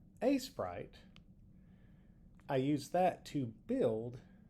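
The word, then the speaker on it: Aseprite: in a sprite, which for the longest time I pronounced it as asite. Um, until I started watching YouTube videos and quickly realized I was being a doofus with the pronunciation. Anyway, a sprite.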